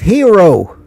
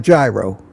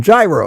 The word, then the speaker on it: gyro: Yeah, that's the That's the Greek pronunciation, but I'm I'm not trying to correct you because we've adopted the American pronunciation where it's spelled gyro and everybody says gyro.